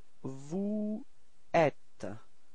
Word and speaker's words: vous êtes: The form for vous, vous êtes. So this is the first, just to notice the sound, and after that you should do the liaison. So this small link between the S and the E, so you get vous êtes.